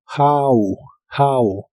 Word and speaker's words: how: La H se pronuncia como una J suave de español y la O de esta palabra se pronuncia como A. How.